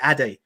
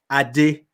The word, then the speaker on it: Ade: You don't even say your name correctly, because I say Ade, which is not the right pronunciation. Right. But that's the acceptable pronunciation for people in the Western world. The right pronunciation is Ademola, Ade. So when people in UK, America, they try to say Ade, they're like, Ade. I'm like, don't put so much emphasis on it.